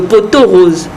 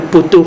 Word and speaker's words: pot-aux-roses: même l'effet de friture on dit souvent le pot-aux-roses attention on ne dit pas le poteau ce n'est pas faute